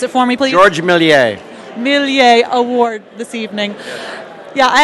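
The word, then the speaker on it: Georges Méliès: Trumbull you are recipient of the could you pronounce it for me please Georgia milli a milli a award this evening yeah I had a silly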